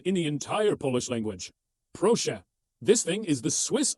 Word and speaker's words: Proszę: A pro golfer is always polite. A pro golfer says please. Proszę. Simple, right? Okay, now check out the power of this word. You can use proszę to say please when you're ordering a coffee.